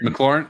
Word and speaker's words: McLaren: this a muren mlar how do you say it is it McLaren M McLaren yeah McLaren McLaren McLaren is